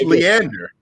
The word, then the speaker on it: Leander: i don't have any problem with it it's leander how do you spell that l-e-a-n-d-e-r leander okay comes out of greek